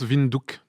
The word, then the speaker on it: Windhoek: Ça se prononce Windhoek, mais ça s'écrit Windhoek.